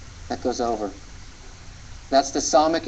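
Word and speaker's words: ס: That's the Samic in Hebrew, and it's one of the S sounds or S consonants in Hebrew.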